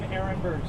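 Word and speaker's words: Aronberg: My name is Dave Ehrenberg, State Attorney for Palm Beach County, Florida. Last name is spelled A-R-O-N-B-E-R-G.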